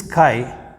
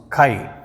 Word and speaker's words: chi: And this chi, it is looking like kainchi. It is looking like scissor. This, you see how it is pronounced, chi. It is pronounced as K-H-I, chi.